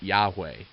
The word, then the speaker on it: Yahweh: name I am which in Hebrew as you'll see on the screen is why HWH pronounced Yahweh and this means that